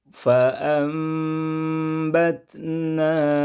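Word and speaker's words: فأنبتنا: Ditulis fa'an, dibaca fa'am. Cara membaca seperti ini dalam ilmu tajwid dinamai hukum bacanya dengan iqlab, yaitu menukar, mengganti bunyi nun mati dengan bunyi mim mati.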